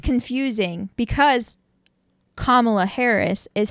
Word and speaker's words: Kamala: Miss Marvel's name Kamala so it's not Kamala it's Kamala kamalakon thank you we're